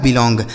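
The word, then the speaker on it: belong: बी ई एल ओ एन जी लिखा है बिलॉन्ग समझ पा रहे हैं दोस्तों तो ओ एन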